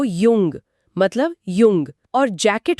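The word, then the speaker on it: jung: या वर्ष को कहते हैं यार मतलब यार और युवा को युंग मतलब युंग और जैकेट को जैके यानी याके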